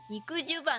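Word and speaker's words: 肉襦袢: 肉襦袢って読むの。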